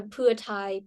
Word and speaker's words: Pheu Thai: one who supported the putai party that's how you pronounce it is for entice ties so putai is a party for ties ah okay I didn't know